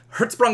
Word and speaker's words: Hertzsprung: a diagram called the Herz sprung Russell diagram Herz sprong Russell diagram and you don't know how much